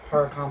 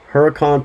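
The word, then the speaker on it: Huracán: the lamborghini the um hurricane performante let's say a little louder because i can't pronounce that hurricane performante huracan performante okay so he got to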